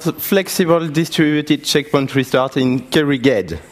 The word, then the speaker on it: Kerrighed: I will talk about flexible distributed checkpoint restart in Kerrighed. This is a French way to pronounce it.